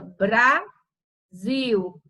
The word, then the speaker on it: Brasil: Brasil, você separando, fica Brasil. E a sílaba tônica é zil.